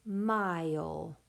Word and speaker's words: mile: Vowel, consonant, silent E. That word is mile.